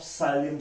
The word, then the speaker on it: psyllium: Isabgol is a powder we obtain from the husk of psyllium seeds. P is silent here बच्चे.